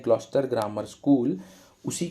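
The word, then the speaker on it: Gloucester: तो देखिए इसमें है ग्लॉसेस्टर लिखा है, इसका एक्चुअल प्रोनाउंसिएशन ग्लॉस्टर होता है।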